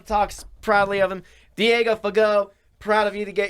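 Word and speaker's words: Fagot: mental linebacker everyone talks proudly of him diego fago proud of you to get your signing and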